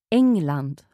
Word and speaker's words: England: England. So there's no hard G sound in there.